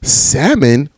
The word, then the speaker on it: salmon: title of this podcast salmon or salmon but technically do you you just pronunciate the L when you write it out you're like Salon or salmon you just throw out the L look I'm I'm not